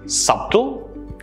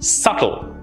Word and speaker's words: subtle: it should be pronounced subtle you're wrong it should be pronounced subtle here the b sound is silent let's look at a